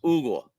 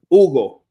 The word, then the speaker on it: Hugo: Um, you don't pronounce the H in an Hispanic surname or first name. It's Ugle. Ugle.